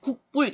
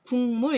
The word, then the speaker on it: 국물: 우리 읽을 때 국불 이러는 사람 아무도 없어요. 국물 이렇게 하죠.